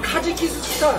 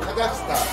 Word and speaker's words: 카자흐스탄: 카지키스탄. 아니야. 카자흐스탄.